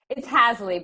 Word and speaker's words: Haseley: Sandra, is it Haseley? Did I say it right? It's Haseley, but there is an E in there that doesn't belong.